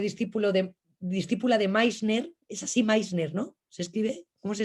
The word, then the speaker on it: Meissner: Que fue discípula de Meissner, es así Meissner, ¿no? ¿Se escribe? ¿Cómo se escribe, Aurora? Perdón, que estaba desilenciando. Meissner, se escribe M-E-I-S-Ner, Vale, como si fuese alemán. vale. Meissner.